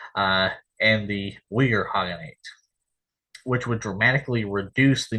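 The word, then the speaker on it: Khaganate: groups from Mongolia such as the second turkic kogenate uh or hogate as as it's uh actually pronounced uh and the hogate which would dramatically reduce the number of Royal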